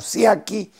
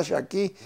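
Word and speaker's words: Sciaky: El nombre de Shaki se escribe S-C-I-A-K-Y, o sea, se pronuncia como Siaki en el español. Pero la verdadera pronunciación era Shaki, y había muchas gentes judías griegas con ese apellido.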